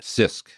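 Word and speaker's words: CISC: So, how would you pronounce that? CISK.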